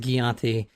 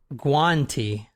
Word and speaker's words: Guanti: I guess I pronounced it Gianti, but it's pronounced Guanti.